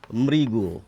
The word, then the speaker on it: মৃগ: বিষয়টি বোঝা গেল না ধরুন এই যে একটি শব্দ লিখে রেখেছি মৃগ হরিণ তো এর উচ্চারণ যদি আমি লিখি এটি হচ্ছে বানান আমি উচ্চারণ লিখছি এবার মৃগ দেখুন ময় র ফলা রস ইকার গওকার মৃগ অর্থাৎ এই ঋ এর উচ্চারণ হচ্ছে র ফলা রস ইকার এটুকু পরিষ্কার এবার আমরা আরেকটি শব্দ